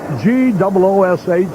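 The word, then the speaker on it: Gwosdz: Now I want to ask you about, wouldn't you rather have this name spelled G-O-O-S-H, the phonetic spelling, rather than all the S's, W's, and Z's?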